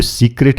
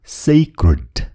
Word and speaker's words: sacred: यो सिक्रेट होइन, यो sacred. भन्नुहोस् त, sacred.